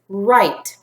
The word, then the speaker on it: write: WR this word is right in this word the WR goes together and they say were the W is silent were ight right I'm